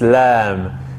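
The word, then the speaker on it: إسلام: cough we don't say and similarly lam we don't say lam it's islam so so we have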